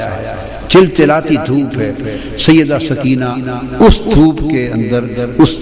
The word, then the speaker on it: سکینہ: امام علی مقام سیدنا امام حسین کی پیاری لخت جگر شہزادی سیدہ سکینہ، اصل نام ان کا عربی وزن میں سکینہ ہے، عرف عام میں سکینہ چلتا ہے، اصل لفظ سکینہ.